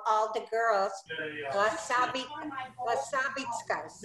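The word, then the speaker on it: красавица: We had a Russian neighbor who would call all the girls Krasavitskas. Am I saying it right, Anna? Krasavitsa, it's beauty.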